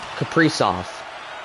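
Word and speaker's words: Kaprizov: a see my phonetics what is it capris of okay Capri off okay Capri off all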